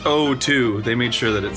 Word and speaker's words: O2: It's pronounced O2.